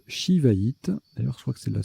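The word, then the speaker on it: shivaïte: également jouer sii ou c cédille ça se prononce shiva it d'ailleurs soin que c'est la seule ça d'être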